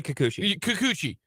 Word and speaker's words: Kikuchi: And, how do you pronounce his name? You say Kikuchi.